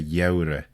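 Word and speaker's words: gheurey: month of the winter', even though it is written 'gh', we still say 'yeurey', and sometimes it is written like this.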